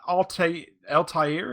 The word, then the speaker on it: Altair: The party returns triumphantly to Altair. Is that how you pronounce it?